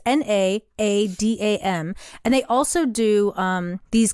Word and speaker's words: Naadam: I had heard about called, I guess it's pronounced NAADAM. It's NAADAM.